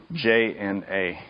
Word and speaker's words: prajna: So there's some disagreement about how that J and A sound is made, but commonly it's nya.